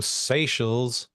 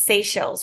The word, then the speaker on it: Seychelles: that's tuning in from Seychelles.